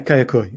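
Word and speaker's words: Kayaköy: don't know if I'm going to pronounce it right, but Kayakoi, Yeah, Kayakoi, exactly.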